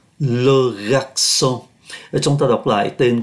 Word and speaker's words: garçon: Ở đây trong từ này chúng ta thấy có CCD, chữ C này nó có CCD, nó có cái đuôi nhỏ nhỏ gọi là CCD. Giá trị phát âm của nó là S, C nhưng mà có cái đuôi gọi là CCD. Phát âm là S, Logaxon.